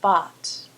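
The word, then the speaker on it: bought: going to give two by for example changes to bot notice the pronunciation there bot teach changes to taught again notice the pronunciation there's no hard G Sound by bot teach taught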